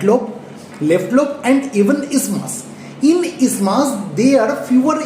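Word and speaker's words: isthmus: thin flap of connective tissue which is called ismas. Though it spelling is I s t h m u s we will not pronounce it as ismas. The actual pronunciation is ismas.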